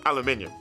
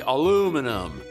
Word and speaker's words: aluminium: We Brits say aluminium. And the Americans say aluminum.